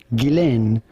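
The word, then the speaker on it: Ghislaine: the case for her her first name is generally pronounced guillen maxwell gillen maxwell gilain maxwell foreign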